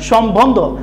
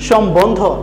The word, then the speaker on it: সম্বন্ধ: তোমরা অনেকে এটার উচ্চারণ করো সম্বন্ধ, সম্বন্ধ না, এটার উচ্চারণ হচ্ছে সম্বন্ধ। এটার একটা নিয়ম রয়েছে তোমাদের, যে বফলা বফলা যদি মফলার সাথে শব্দের মাঝে এবং শেষে বসে তাহলে বফলার উচ্চারণটা বহাল থাকে বা বজায় থাকে, এই জন্য আমরা উচ্চারণ করছি সম্বন্ধ।